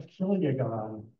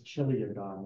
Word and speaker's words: chiliagon: So a kiliagon, I've sometimes heard people pronounce this chiliagon, which is funny, but it's not right. This is a cod, it's a Greek word.